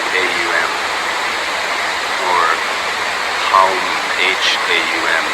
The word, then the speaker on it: Haum: But when we do Uccara, we pronounce this bija mantra Aum, spelled A-U-M, or Haum, H-A-U-M, the H being almost silent but riding out on the breath.